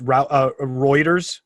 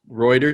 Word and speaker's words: Reuters: Also, I've heard it pronounced Reuters. Reuters.